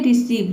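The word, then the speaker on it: receive: इसमें भी देखिए इ आई से पहले क्या है? सी लेटर आया है। तो इ आई को हम क्या पढ़े हैं? इ पढ़ रहे हैं।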